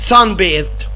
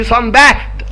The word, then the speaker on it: sunbathed: ولكن الفعل sun bathe، في فرق في النطق. ها خلي بالكم يا جماعه، ماشي؟ يعني ما نطقهاش كانها اسم، يعني ما اقولش sun bathed، لا غلط، هي نطقها الصح ايه؟ sun bathed. حرف التي والاتش بتنطقوا ذال، ها sun bathed يعني